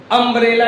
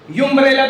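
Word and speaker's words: umbrella: याद करिए, अम्ब्रेला, यू एम बी आर E double L ए। यूम्ब्रेला तो पढ़ते नहीं हो, क्या है? अम्ब्रेला है, ठीक।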